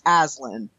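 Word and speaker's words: Aslan: or B not know how to pronounce that it's alen and he's the Jesus allegory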